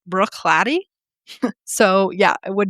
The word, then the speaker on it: Bruichladdich: I had always been calling it brewish ladic because that's how it's spelled, but it turns out that it's actually pronounced Brooklatt.